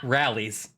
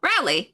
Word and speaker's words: Rallies: Anne points out you did say it like Raleigh, North Carolina for some reason, not Rallies. Oh, Raleigh.